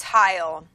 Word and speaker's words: Heil: I don't know how you pronounce this. Is it Heil? It's Heil.